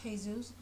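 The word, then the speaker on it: Jesús: The characters are Callie, Lena, Stephen, Brandon, Mike, Marilena, Jesus, but it's called Jesus, but in Spanish it's pronounced Jesus.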